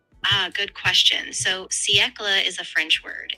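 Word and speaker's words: siècle: So, seckla is a French word. It's pronounced something like ckla.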